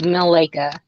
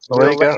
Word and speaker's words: Malika: It's Malika. Malika. Okay. Welcome to Malika. No, Chandra. She said it how she. You said it wrong. Say it again, sister, please. Mill, like the mill. Mill. Malika.